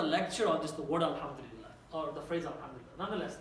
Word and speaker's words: alhamdulillah: Try to say alhamdulillah. Please, the entire word. Alhamdulillah. Try it. It doesn't hurt to add one more syllable to the word itself.